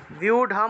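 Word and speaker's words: ব্যূঢ়ম্: জন্য ভিউঢাম উচ্চারণ করবেন সংস্কৃতে র টাকে র কে ঢ এর মত করে উচ্চারণ করা হয় সংস্কৃতে র শব্দটাকে ঢ এর মত উচ্চারণ করা হয় এটা আপনাদের উচ্চারণ বিধির ক্লাসে দেখিয়ে দিয়েছিলাম যে জায়গাতে আপনারা রো পাবেন সেই জায়গাতে ঢ উচ্চারণ করবেন তাহলে ভিউঢাম ঢ উচ্চারণ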